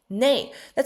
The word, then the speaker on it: 那: ngày ngoại trừ那个đúng 那chúng ta cũng có thể phát âm那 as内内đó là lý do tại sao trong tiếng Trung